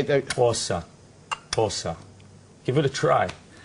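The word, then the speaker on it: Xhosa: know it's say that againa paa which you spell it x h o s a say pora Pora give it a try I you all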